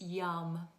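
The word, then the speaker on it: yam: And the chant for this one is yum v y a m but actually pronounced y u m when you chant it.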